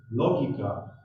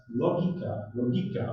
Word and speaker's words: logika: he practices is called logika, pronounced with an accent on the vowel O, whereas logika, as the name of philosophical logic practiced by Twardowski, should be accented with the vowel I.